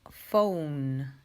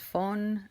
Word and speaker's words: found: final también momento después found no es phone es found sound después viene no lo